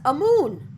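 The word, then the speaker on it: Amun: n or am un the last being pronounced in recent years as a moon there seems to be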